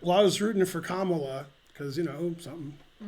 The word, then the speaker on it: Kamala: Well, I was rooting for Kamala because something. Her name rhymes with Holla.